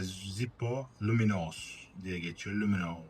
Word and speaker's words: Lumino: Lumino diye okunuyor sanırım.